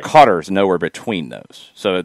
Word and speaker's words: Qatar: to native english speakers beginning with the initial consonant in cutter the q makes for a hard k sound but one with its origins deep within the throat a poor english equivalent is the c in cough the fur the words first vowel sound is similar to ah as in ah shucks but not nearly as